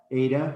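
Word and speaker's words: η: Eta, which makes the... To me, it's a long A sound. Long A, and they say as in obey. as O-B-E-A-E-Y, obey. It's the way they say it.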